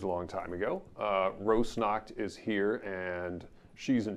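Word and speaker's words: Rosnakht: things i'm gonna mispronounce rose snot or snack rose knocked rose knocked heir there we go thank you for handling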